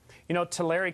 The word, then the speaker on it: Tulare: Tulare County is how it's pronounced, actually, but in Tulare County, that's fine.